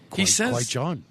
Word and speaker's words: Qui-Gon: Apologies, Qui-Gon. It's okay. It's okay. You pronounce it just like Liam Neeson, the actor that played him.